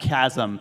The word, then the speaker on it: chasm: It's pronounced chasm.